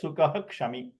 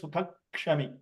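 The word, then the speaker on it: सुखः क्षमी: But sukaha kshami has to be pronounced as sukaha kshami. You can't pronounce that sukha kshami because ksha starts with kakara.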